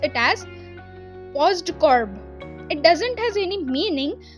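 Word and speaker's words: POSDCORB: So the word you can pronounce it as postcorb.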